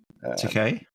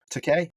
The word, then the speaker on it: Takei: Takei, yeah. Takei.